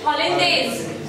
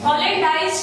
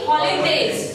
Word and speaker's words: hollandaise: इसका pronunciation है espagnol. बोलो espagnol sauce. ठीक है? Then third is hollandaise. Hollandaise नहीं hollandaise.